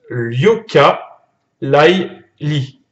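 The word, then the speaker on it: Yooka-Laylee: Comment on prononce? Yoka Lai Li.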